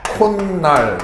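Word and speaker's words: 콧날: 나타나는데요 예를 들자면 그 코하고 날이 이렇게 결합되는 경우를 보면 발음은 콘 날 이렇게 발음이 되죠 어 물론 이제 이게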